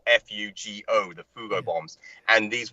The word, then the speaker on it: Fugo: I explained to him about the Fugo bombs, Fugo Japanese balloons. I was there, and I told him it's spelled F-U-G-O, the Fugo bombs, and these were the world's